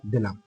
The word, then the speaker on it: the: তাহলে এখানে যেমন হয়তো আমি লিখলাম dash dash member member member of ডট ডট ডট দিলাম তাহলে এইখানে কিন্তু আমাকে দি বসাতে হবে তাহলে এই যে এই উচ্চারণটাও কিন্তু দি হবে তাহলে বুঝতে পারছ মেম্বার